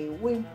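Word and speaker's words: Éowyn: Ja, je zegt Eowyn en dan schrijf je een E met een schuin streepje erboven. De W van Willem. De O van Otto, de I correct en de N van Nico. En dan spreek je uit als Ewin.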